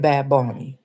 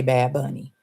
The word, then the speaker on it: Bad Bunny: present that then bad bony and that's how you have to say his name you cannot say bad bunny is bad bony okay so uh Trevor